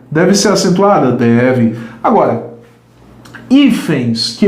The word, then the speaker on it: hífens: Porque a palavra hífens é uma palavra paroxítona, porque a sílaba tônica está aqui e termina como? Termina em ENS. Isto é, coincide com a regra de quem? Das oxítonas. Se coincide com a regra das oxítonas, a palavra não pode ser acentuada, porque a sílaba tônica dela é a penúltima.